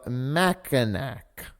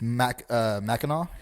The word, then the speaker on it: Mackinac: by the Straits of Mackinac. It's Mackinac. Mackinac. That's a shibboleth. That's how you know you're not from there, is because you said Mackinac. It ends in a C.